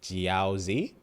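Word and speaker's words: Jiaozi: J I A O Z I. So like Jiaozy I J I A O Z I JY Ji versus Kyoza.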